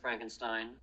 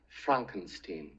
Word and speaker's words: Frankenstein: school you know I have one question Dr Frankenstein that's Frankenstein it is it is Frankenstein my name is pronounced Frankenstein but aren't you the grandson of the famous